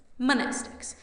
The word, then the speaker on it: mnestics: Monestics, Class W, X, Y, and Z. Same Greek root as the word mnemonic. The M is silent.